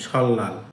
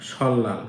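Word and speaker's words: 설날: বছরের প্রথম দিন হচ্ছে সল্লাল আপনারা এটা উচ্চারণ করবেন সল্লাল কারণ রিউলের পরে যদি নিউন থাকে তখন নিউ এর উচ্চারণও ল এর মত হয় সল্লাল ইনা অথবা শিক মানে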